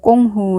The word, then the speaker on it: 工夫: 가르침 임을 알게 됐다 공부는 중국으로 꽁 후 라고 발음 하며 영어로는 투스타 d